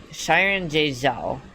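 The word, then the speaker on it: Xiran Jay Zhao: Yeah, it's like Shyron Jouo.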